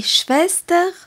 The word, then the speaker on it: Schwester: S T e r on rappelle que S se dit che et W se dit ve épelons les noms que